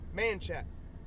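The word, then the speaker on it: Manchaca: did a lot of stuff but it is pronounced manat I'll go to my grave on that one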